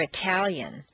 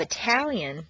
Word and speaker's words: Italian: At the top of a staircase, T is pronounced T, as in Ted or Italian.